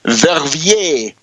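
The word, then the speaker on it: Verviers: Belgium in particular the town of verier v r v i e r s verier it's amazing to hear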